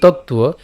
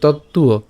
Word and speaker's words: তত্ত্ব: নিচের অন্তস্তবটা আমরা জানি, অন্তস্তব থাকলে এটা উচ্চারণটা উয়োর মতো হবে। তো একসাথে উচ্চারণ করলে তুয়ো, আমরা এভাবে লিখতে পারি তত্ত্বুয়।